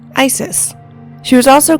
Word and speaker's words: Isis: The original Egyptian pronunciation was probably closer to uset or asset, but since hieroglyphs largely did not indicate vowels, the Greeks inserted vowels that sounded natural to them, resulting in the name Isis.